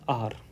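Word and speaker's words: hour: देखो, कभी भी होते हैं तो इसको अपन हार नहीं पढ़ते हैं, इसको पढ़ते हैं अपन आर।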